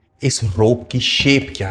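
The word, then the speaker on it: cosh: और इसको पढ़ते हैं कॉश एक्स.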